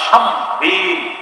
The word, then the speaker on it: শামবীল: বিচারকদের মাঝে একজন বিচারক আছে, তার নাম শামবীল। কি নাম? শামবীল।